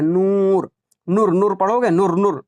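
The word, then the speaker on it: نور: कैसे पता चला, नू के पहले वाव के पहले पेश है और इसको खींच कर पढ़ा जा रहा है, नूर, नूर, नूर पढ़ोगे, नूर नूर नहीं, नहीं पढ़ोगे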